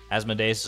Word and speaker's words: Asmodeus: like deus ex machina asmodeus asthma days is closer to the Latin pronunciation ooh asmodeus asmodeus has